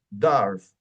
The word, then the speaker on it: dwarf: Por ejemplo, la W, aquí no es dwarf, enano significa, es dwarf, dwarf.